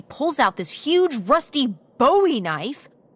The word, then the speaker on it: Bowie: no warning, he pulls out this huge rusty Bowie knife. It's actually pronounced Buoie. What? No, it's like the last name, like David Bowie. Different last name. Buoy.